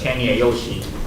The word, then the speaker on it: 千野由喜: is and the chinese pronunciation is cheney yoshi and yoshi sounds like uh the pronunciation is the same as this one so then my friend